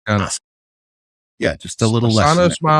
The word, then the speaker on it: Asuka: That's why Asuka is not Asuka. She's Asuka.